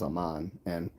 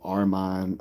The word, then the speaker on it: Aman: my real name is am and my name is mispronounced I've been called Arman Alman Muhammad um ahed all every Oman like everything but Aman so Eric says um